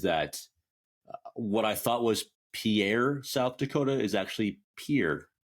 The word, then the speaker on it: Pierre: One thing that I did learn is that what I thought was Pierre, South Dakota, is actually Pierre, South Dakota. So if you ever say that one, it's Pierre.